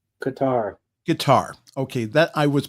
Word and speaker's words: Qatar: It's Qatar. Guitar. Okay, that I was pronouncing it right.